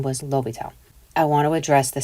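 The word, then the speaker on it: L'Hôpital: The silent S has been removed and replaced with a circumflex over the preceding vowel. Okay, which means this silent S is gone, and now they have that caret over the O.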